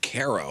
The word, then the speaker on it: Cairo: But they pronounced it ko.